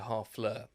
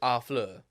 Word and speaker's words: Harfleur: I'm in French, they don't pronounce the H. So, Harfleur.